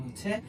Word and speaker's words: ح: থাকে তাহলে এটার নাম হচ্ছে হা। হা। হা উচ্চারণের ক্ষেত্রে গলার মাঝখানে একটু চাপ প্রয়োগ করলে হার সঠিক উচ্চারণটা বের হয়ে আসে।